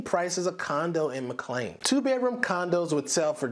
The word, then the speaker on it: McLean: Locals pronounce the word McLean.